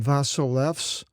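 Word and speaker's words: βασιλεύς: i'll read them in the with the greek pronunciation because you can see the english and king solomon vasilevs vasolevone there's the verb the noun for king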